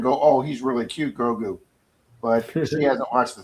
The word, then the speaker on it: Grogu: Oh, I call it Guru. Like Grogu is how you pronounce it.